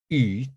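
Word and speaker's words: 予: Okay, it's pronounced yu, third tone. Okay, it's a third tone yu. It means to give or to grant, even though. If it's pronounced, I think in the second tone, it means it's a conjunction and or with.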